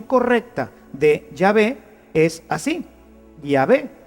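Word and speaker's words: Yahvé: llave y por eso nosotros sabemos que la pronunciación correcta de llave es así y ave y no jehová que simplemente una una litera ción se fue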